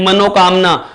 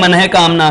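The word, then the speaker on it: मनःकामना: अशुद्ध उच्चारण करते हैं मनोकामना कोई शब्द नहीं होता दोस्तों सही शब्द होता है मन है कामना सही शब्द क्या होता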